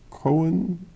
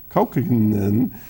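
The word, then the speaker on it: Kaukonen: Gordon joins folks like Roy Bookbinder, Jorma Cohen, no, that's not how you say it, I can't say it, Kaukinen, Austin Walken Kane, and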